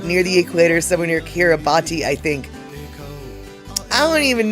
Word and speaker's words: Kiribati: Before we get into our kitty cat situation, oh, Kiribati is pronounced Kiribati.